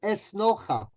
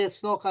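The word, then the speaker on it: Esnoga: Well, it's synagogue, but it's pronounced in a certain way.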